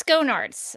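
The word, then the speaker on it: Schoenaerts: I think it's Skonarts. I heard somebody say Skonarts in an interview that he did, and he did not seem to object to that pronunciation.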